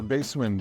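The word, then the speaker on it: Bassment: Yeah, the basement. Basement, B-A-S-S, like bass, like in music. Okay. So play on words, basement, because it is under us, yes. Okay, so what does that have? So the basement is a cocktail bar, right?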